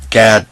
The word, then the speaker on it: Gad: It's pronounced God, but some people say Gad to avoid confusion with God.